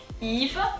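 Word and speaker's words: Yves: behaves like an i eve the s is silent so that makes it fairly easy eva moving on to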